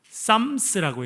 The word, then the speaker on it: psalms: 이렇게 부르는데요 영어로는 그 psalms라고 해서 쌈스라고 이렇게 읽을 수 있는데요 그냥 싸움이라고 읽습니다 PSA 이렇게 됐는 발음을 정확 여러분 그대로 읽으면 풋살 이렇게 읽어야 되는데요 프 살롱스 그런데 이제 영어이 단어가